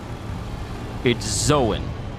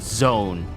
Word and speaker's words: Zoan: But it's Zoan. It's not zone. It's Zoan.